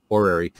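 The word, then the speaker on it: horary: another branch of astrology called orary astrology which is spelled with an h orary um that's probably the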